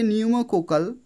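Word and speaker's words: pneumococcal: এটা তোমরা মনে রাখবে উচ্চারণ হবে নিউমোকোকাল কিন্তু পি দিয়ে শুরু হয় তো সেক্ষেত্রে অপশন ডি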